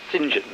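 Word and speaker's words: St John: particularly the saints so so saint john is sinjin and so that politician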